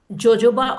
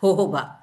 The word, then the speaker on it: jojoba: And if you talk about natural occlusive oils, the best occlusive oils are castor oil, then jojoba, or actually it is pronounced as jojoba. J is not pronounced, jojoba oils.